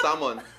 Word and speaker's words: salmon: i won't doubt it the l isn't pronounced there it's someone please what you wouldn't